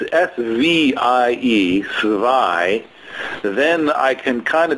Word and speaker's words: zwei: Because it's spelled with a Z. So then, in German, if it's spelled with a Z, the sound is always Zwei.